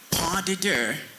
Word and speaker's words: pas de deux: The third, pas de deux. That word also has a silent letter S.